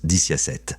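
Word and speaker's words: diciassette: En italien, 17 se prononce diciasette, qui peut être réarrangé pour former le mot vixi, signifiant « j'ai vécu », une phrase associée à la mort.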